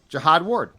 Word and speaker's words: Jihad Ward: Dallas Turner Andrew van GLE and I'm GNA pronounce this one right too Jihad Jihad ju U capital h o d yeah Jihad Jihad Ward jiad Ward last two seasons with the Giants